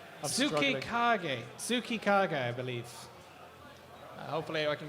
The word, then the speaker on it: Tsukikage: And the robot, which I got told off for mispronunciation, Tsukikage, I believe. Hopefully I can get a... Tsukika is what I got told on the chat. Tsukikage, yes. They phonetically spelt it out for me so that